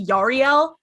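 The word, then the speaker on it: Yarael: Yaro poof Yar guys first of all his name is pronounce yariel so um okay is this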